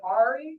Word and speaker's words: Ari: Is it Ari? Is that how you pronounce it? Yes, it is.